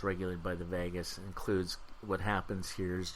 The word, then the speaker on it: vagus: state is regulated by the vagus kind of like pronounced like Las Vegas but it's the AG us if you're interested in